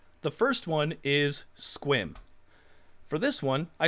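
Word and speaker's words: Sequim: ahead i'll wait the first one is squim for this one i spelled it phonetically this will largely be how you solve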